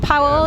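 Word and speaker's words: Paweł: It is the first album to feature the new bassists Paul and Michael. Am I saying it right? Powell and Michael? Yeah.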